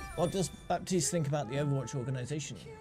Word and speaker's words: Baptiste: character himself says another baptist pronounces it pronounces the p does that please have